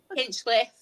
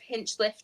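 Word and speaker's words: Hinchliffe: loan anywhere, just um pick up Hinchcliffe. Hinchliff. Darling. Same. You know what I'm like with pronunciations. Same thing. Do you know what everyone used to call him when he first joined? Hinchcliffe.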